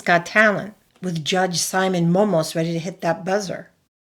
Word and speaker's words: Mómos: Momus, not Momos.